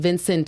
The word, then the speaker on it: Vincent: So they had one plate that was like a squid dish, and there was only like 2 little squids, and Vincent Pastore, that's how you pronounce his last name, right?